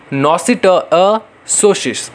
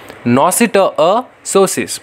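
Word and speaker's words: noscitur a sociis: Next है नॉसिटअसोसिस, बताओ, pronounce करो, नॉसिटअसोसिस, बोलो, नॉसिटअसोसिस।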